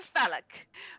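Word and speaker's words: Fallack: I am more grand phallic. Magic extraordinaire." I can't believe I just said that word. Phallic? Yes, but it's spelled F-A-L-L-A-C-K. I just had a Doris Matthew has moment.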